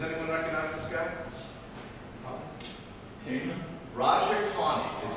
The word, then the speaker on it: Taney: Roger Tawney is how you pronounce it. In Maryland they have Taneytown Road, it goes down from Gettysburg. It's spelled Taney, like he said, T-A-N-E-Y, but Roger Tawney was Chief Justice of the United States from